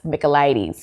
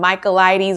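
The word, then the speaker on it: Michaelides: the maidens by alex micheladies i know how to say his name now go back and watch my videos about the silent patient i was calling him michaelites or something like that anyway but yes so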